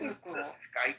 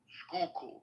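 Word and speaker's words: Schuylkill: Is it sky river? Skook. Skookul, not sky. No, it's a Dutch word. Okay. Skookul.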